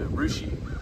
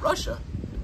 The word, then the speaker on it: Russia: up here so I I understand the the mispronunciation of the places though cuz the first time I went to rushi I said Russia is what it looks like yeah Russia Russia